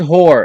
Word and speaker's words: hoor: The word whore, and yes, it's pronounced as a whore or whore.